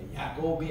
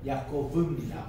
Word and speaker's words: 야코브: 그래서 야코브 할 때 V 발음이 돼요. 야곱이 아니고 야코브입니다. V 발음.